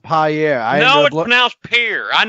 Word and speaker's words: Pierre: year no no no it's pronounced pi air I will now appear